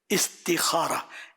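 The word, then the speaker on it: استخارة: साथ इस्तिखाराह, एक ग्राहक के साथ इस्तिखारा - फिर यह इस्तिखारा वास्तव में कौन सा सही है? यह सही है। उच्चारण इस्तिखाराह, इस्तिखारा नहीं।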